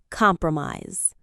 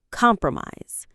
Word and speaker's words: compromise: Word number 4, compromise. Let's check the pronunciation. Mise. 3 syllables. Compromise. The stress is on the first syllable.